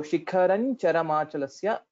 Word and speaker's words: शिखरं चरमाचलस्य: then this will be transformed into the fifth letter of the corresponding group. And hence here, the fifth letter of Chavarga is Cha Cha Ja Ja Nya. So Shikharan Charamachalasya will be the right pronunciation.